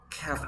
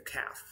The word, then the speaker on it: calf: okay cow ternero calf calf we don't pronounce the L okay the calf next how do we